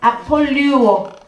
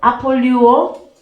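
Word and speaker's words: ἀπολούω: 아폴 아폴리오. 아폴리오. 자, 발음이 맞습니까? 아폴류오.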